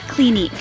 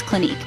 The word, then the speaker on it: Clinique: hang of it finally we end the name with a silent E so when you put it all together it sounds like Clinique now let's take a